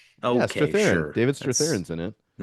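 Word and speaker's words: Strathairn: Straththerin. David Stratheran's in it.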